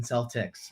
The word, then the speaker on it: Celtics: we're gonna go with kel we're gonna go with celtics i i had to correct myself it is the boltons boston celtics my friend but i